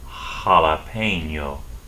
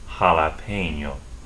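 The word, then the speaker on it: jalapeño: in the word J is also pronounced like H in every case so for that hot pepper you eat call it a jalapeno jalapeno Double L does not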